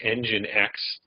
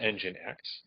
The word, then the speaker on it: nginx: I've mentioned that we're going to be using nginx and that's how nginx is spelled n GI NX so we're going to